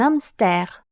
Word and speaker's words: hamster: Буква H не читается. Буква сочетания с H читается как Ш.